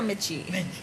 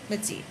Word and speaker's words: Mitzi: Is it Mitzi or Mitchie? Mitzi. Okay, and who is this that we're sending a shout out to and appreciation for today, Richard?